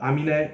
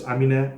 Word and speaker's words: Aminé: the correct pronunciation is amine or something along those lines i don't think that last e is silent because it's got an accent on it yeah we're gonna be